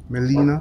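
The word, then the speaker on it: Gmelina: It's called a Melina philippensis. And the Melina is spelled G-M-E-L-I-N-A. G is silent. Melina philippensis.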